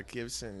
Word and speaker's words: Gibson: No, the guitar company that starts with a G and rhymes with Ibsen. Right. Yeah, Gibson.